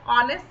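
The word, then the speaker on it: honest: ह जो है वो साइलेंट है, ऑनेस्ट से स्टार्ट होता है ये वर्ड। ऑनेस्ट हम साउंड, मतलब जो हम बोलते हैं, इसकी प्रोनाउंसिएशन जो होती है वो ऑनेस्ट होती है, तो उसके अकॉर्डिंग वॉवल साउंड ये इसमें आ रही है ओ की, इसलिए हम इसको एन ऑनेस्ट बोलते हैं।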